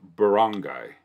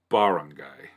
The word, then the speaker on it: barangay: guide such as this, traditionally one of the syllables need to be in all caps so that we know where the emphasis lies. Typically, I believe in English speaking, by default, the second syllable gets the emphasis. Well, emphasis, like barangay. If it's barangay, then it's R-A-H would need to be capitalized.